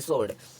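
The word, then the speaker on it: sword: है आगे देखते हैं डब्लू साइलेंट एस के बाद आया डब्लू साइलेंट हो जाता है जैसे ए एन S double E आर ये हो गया हमारा आंसर और इसको हम पढ़ेंगे सोर्ड अब आर अब दूसरा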